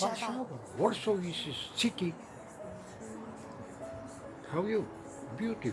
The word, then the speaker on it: Warszawa: En anglais, c'est "Wor-saw". Ce n'est pas "Wor-saw", c'est Warszawa.